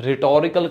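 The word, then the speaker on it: rhetorical: तो इसे कहते हैं रिटोरिकल क्वेश्चन, जिसमें एच साइलेंट है और ये one kind of figure of the speech है।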